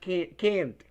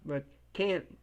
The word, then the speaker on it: can: it's affirmative can can it's not pronounced can't but can but can can okay and this is